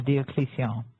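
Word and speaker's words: Diocletian: Mysteries he came out of retirement this is Diocesan or Deion as it's more correctly pronounced came out of retirement to try to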